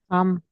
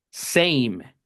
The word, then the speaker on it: same: ¿Qué le cambió el sonido a la a de abajo para que suene same y no sam? La e. Porque si no tuviera la e no puede sonar e lo ven entonces el el que detona que la a suene e es la e muda del final y la consonante.